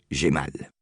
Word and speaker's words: Jamal: cravate louée pour une bouchée de pain à Jamal, prononcé Gémal, un vieillard du village qui avait été représentant